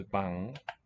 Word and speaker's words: bank: And bank is a noun. Pronounced as bang.